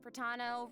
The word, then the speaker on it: Pratano: Hey everyone, I'm Pratano, rhymes with Capitano, the voice of.